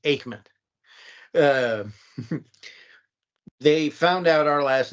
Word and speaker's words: Aikman: And I pronounced it Eichmann. Huh? I always pronounced it Eichmann. No, it's pronounced Aikman.